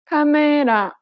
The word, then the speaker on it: 카메라: But in Korean, each syllable is pronounced for the same amount of time and gets equal stress. Listen to the word camera in Korean. 카메라, This principle applies throughout